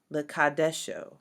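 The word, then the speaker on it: לְקַדְּשׁוֹ: The second scripture is Exodus 20, verse 8, which says, Zakor et Yom Hashabbat Lekadesho. Lekadesho. So in this, because the dalet is doubled and there is a sheva under it, it's lekad, and then you got to double that dalet, lekadesho, lekadesho.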